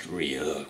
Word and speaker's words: Ryuk: It's like, hey, you mispronounced my name. It's Ryuk. It's actually pronounced Ryuk.